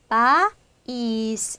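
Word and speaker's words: país: 그러니까 얘는 어때요? 바이스. 지금 약한 애가 이렇게 강세 표기를 얻어서 힘이 생긴 거예요. 그러면 이 이를 약했던 애를 정확하게 발음해 주니까 이제 바이스 이렇게 음가가 두 개로 갈리기까지 된다는 거죠.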